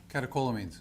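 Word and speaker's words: catecholamines: How do you say that? Calio, maybe you can help me out. Okay, thank you. Catakolamines.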